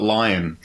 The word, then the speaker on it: Lyon: sends you any feedbacks i think you just call it lion but that's okay you're